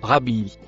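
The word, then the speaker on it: ربه: Le premier mot violet se prononce rabi.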